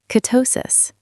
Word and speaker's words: ketosis: Ketosis. Stress on the second syllable.